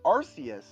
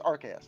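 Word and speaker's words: Arceus: H and if you and the thing is if you have that event Arus AR sorry it's Archus actually it's Archus because we learned that in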